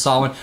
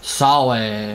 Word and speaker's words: Samhain: Spelled Samhain, of course, but it's pronounced Samhain. Or, you know, each little different culture has a different way of pronouncing it. You know, Sawe or Suin or whatever.